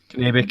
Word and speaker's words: Kennebec: Kennebec, yep.